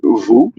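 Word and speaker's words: vous: U letter because uh there are example like vu and v do and do moo and m and so by instance vu is you and more than that but um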